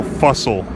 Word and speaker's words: Fussell: I read a few excellent books by an author named Paul Fussell. It's spelled like Russell, but with an F.